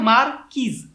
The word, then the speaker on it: marquise: diamond is called Marquise Many people call it marqueese, but in actual terms it has a pronunciation of marquise marquise, which is the upper part of the marquise and the most.